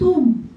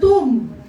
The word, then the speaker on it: tomb: 'Di ba yung tomb? Dati nung elementary ako, ang tawag ang pronunciation ko ng tomb Tom. Kaya natalo ako sa sa ano declaration. But it is the tomb.